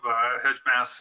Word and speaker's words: Heimas: As you know, I'm the CEO of Heimas Agrifiber Technology, or Heimas is the better pronunciation.